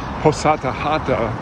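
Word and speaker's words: Пузата Хата: Hosatahata, that's how you say it.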